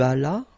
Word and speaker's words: allas: J'allais, tu allas, remember, final S is not pronounced.